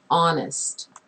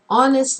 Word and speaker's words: honest: sound not the letter letter H is a lot of times not pronounced so here we have the adjective honest honest man uh or an